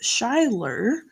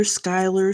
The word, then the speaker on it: Shyler: And my daughter's name, and my eldest daughter's name is Shyler, spelled like shy, Shy, and Ler. And she's been called Shyler, Skylar, Skyla, Skyly, all kinds of funny names.